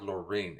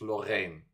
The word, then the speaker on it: Loreen: It's not Loreen, it's Lorraine. You see the difference?